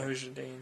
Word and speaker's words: Mujahideen: Look what happened in Afghanistan with the Mujahideen. I think I pronounced that correctly. Mujahideen, yeah.